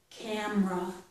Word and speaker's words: camera: carry a camera and in this word we don't pronounce that e usually camera hardly ever carry camera